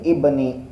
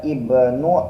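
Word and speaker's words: ابنِ: ini ibninya ini yaitu Ibni itu kan nggak dibaca Ibnu Ibnu enggak tapi dibacanya Ibni di sininya ini yang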